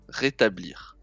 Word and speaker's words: rétablir: que vous allez vous rétablir j'aiécris j'écris la phrase j'espère que vous allez ravier rétabl alors réta blir c'est dans trois syllabes r rétablir voilà c'est ça rétablir rétablir j'espère que